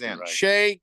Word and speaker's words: Shai: a nerd but like his name is Shay and yeah Shay not Shai so it's Shay Gilgamesh Alexander Gil Giles